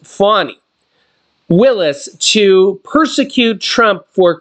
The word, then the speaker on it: Fani: more ways than one prosecutor engaged by Fanny pronounced fonnie Willis to persecute Trump for crooked Joe Biden